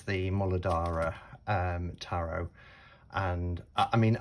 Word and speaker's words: Muladhara: my way up and i have heard it pronounced in a myriad of ways moladdera um yeah all different kind of variations but um the person who i learned from would refer to it as the molodara so that would be